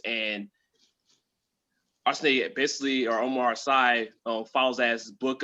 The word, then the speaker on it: Sy: It was starring Omar Sy, I believe is how you pronounce his last name, S-Y.